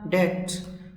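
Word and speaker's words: debt: डेप्ट इसमें B silent होता है। कुछ लोग इसको डेप्ट बोल देते हैं जो गलत है।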